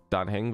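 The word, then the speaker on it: Dan Heng: Dan Hang wird da geschrieben, aber ich glaube, Dan Hang wird da ausgesprochen.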